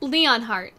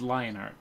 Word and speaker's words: Lionheart: Leonheart. It's Lionheart. Ah, no! Not Leonheart.